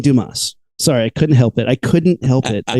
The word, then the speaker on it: Dumas: written by French author Alexander dumbass I mean Dumas sorry I couldn't help